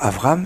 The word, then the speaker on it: Avram: Il ne s'appelle pas encore Abraham, il s'appelle encore Avram. Il faut faire attention à bien prononcer comme il faut pendant la plus grande partie de notre paracha.